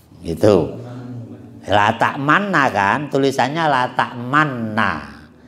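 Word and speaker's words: لا تأمنا: La ta'manna kan, tulisannya la ta'manna. Ya dibacanya ismam. Ismam itu monyong dulu baru meringis.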